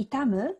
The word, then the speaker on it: 痛む: 次ですこれも読み方ちょっと難しいですかねぇ痛むと読みますこの痛むは痛い